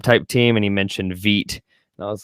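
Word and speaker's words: Vít: Veet. Vit. Yeah, he pronounces it Veet. Veet. Yeah. Makes sense. I didn't know. I thought it was Vit.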